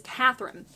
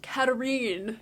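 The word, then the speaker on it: Katharine: so again spoiler alert my favorite sister is catherine which somebody told me today is the wrong way to pronounce her name apparently her name is pronounced katarine even though it's spelled exactly like katherine it's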